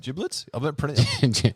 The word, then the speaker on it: giblets: Giblets? I believe it's pronounced giblets. It's a soft G.